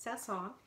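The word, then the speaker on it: Saint-Saëns: It looks like Saint-Saens, but it's French, so it's pronounced Saint-Saens.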